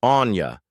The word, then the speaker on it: Aine: Then came Aine. Pronounced Anya, she was born a few years after Bridget's.